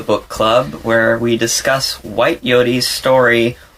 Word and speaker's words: Whyte Yoté: It's like Whyte Yote. It's just two quick accented syllables.